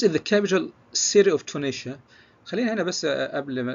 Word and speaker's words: Tunisia: فتونس as a capital is Tunis, but the country is Tunisia. فتونس العاصمة تنطق تونس باللغة الإنجليزية، أما الدولة فهي تونيشيا اللي هي تونس كدولة.